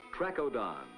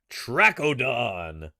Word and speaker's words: Trachodon: recreated by Sinclair youngsters and adults alike stand in awe of a world that was some interesting favorites the ponderous trechodon trackodon there you go and this is indeed